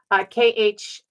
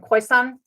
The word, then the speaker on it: Khoisan: Khiosan, Khoisan. It's considered a slur by the Khoi people. It is a mispronunciation of who they are, and it's a European pronunciation.